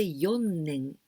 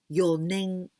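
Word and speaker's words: 四年: three years well but the only exceptions for the pronunciation is number four four is young young or shi but here we use but we don't say yon neng but your name your name so without any sound your name this is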